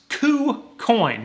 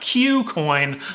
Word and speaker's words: KuCoin: on this channel so it is pronounced coo coin not q coin like i used to say it and basically what that